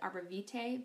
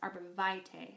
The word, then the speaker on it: Arborvitae: It is called Arborvitae, and I used to pronounce it Arborvitae, but I found out it's actually pronounced Arborvitae, so hopefully I don't mess that up too much for you.